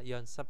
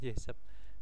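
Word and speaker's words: 연습: Nah, yesep itu adalah yonsep, sorry. Latihan ya, yonsep bukan yesep.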